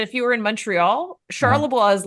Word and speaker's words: Charlebois: Charlebois? Charlebois? Oh, Charlebois.